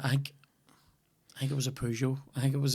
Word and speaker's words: Peugeot: I say Pew, not Poo, like. I think I might say Peugeot.